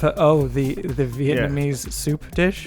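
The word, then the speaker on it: pho: pronounces words correctly f f oh the the Vietnamese soup dish yeah it's like I don't like when people say F you rather they just say fo exactly well I'm not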